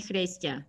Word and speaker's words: Chrystia: to call you ryan if you promise to call me fresja oh i'll do my best to pronounce it correctly uh kristian thank you for making